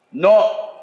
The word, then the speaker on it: know: ஆங்கிலத்தில் KNOW என்ன சொல்லுவோம்? நோ. NO எப்படி அழைப்போம்? நோ. அதனால அங்க ஒலி மாறுபாடு உண்டு.